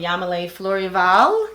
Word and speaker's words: Yamilee Fleurival: I am here with Yamile Florival.